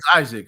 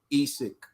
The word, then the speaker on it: Isaac: know i you know isaac i said isaac i think they call him esic he said i believe